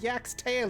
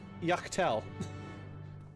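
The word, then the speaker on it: Yak T'el: I'm pretty sure it's Yak. I'm sure pretty sure it's Yak's tail, Inspector. No, guys, it's Yaktell.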